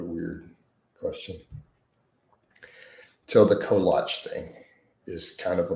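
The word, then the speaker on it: kolache: So in Texas, collatch places are extremely common, but they bastardize it and they pronounce it wrong. And the overwhelming majority of people call it a kalachi and it's just a collage.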